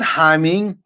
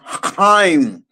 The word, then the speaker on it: Chaim: But life in Hebrew is not Jaime, it's Chaim. Chaim. Not Jaime, but Chaim.